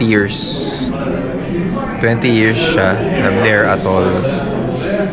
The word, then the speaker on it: Blair Athol: เ So whisky tasting ito 20 years 20 years siya na blare at all. Tama ba yung pronunciation ko? Blir athol yun. Blir athol.